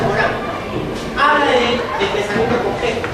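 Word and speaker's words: Morin: Se escribe Morín, pero se pronuncia Morán.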